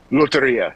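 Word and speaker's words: Lotería: Well, I thought, but I think even if people never heard of, just correct me on the pronunciation. It's Loteria, right? Loteria, yes.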